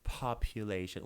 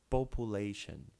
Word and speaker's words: population: wrong most people say population Brazilian students they have this tendency of pronouncing population it's not population it's population population you can see here how the u sound has something special it's not popu it's